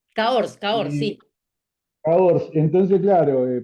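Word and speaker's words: Cahors: Entonces, claro, la pronunciación francesa Cor. Caors, Cor.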